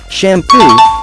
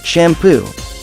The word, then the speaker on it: shampoo: it should be shampoo not shampoo just put emphasis on the second syllable not the first just like in